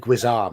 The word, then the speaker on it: guisarme: glaive guisarme instead. She's a beaut. She's a gem. She's a keeper. I'm blessed. Mr. Pronunciation, should that be That's Gizar? exactly.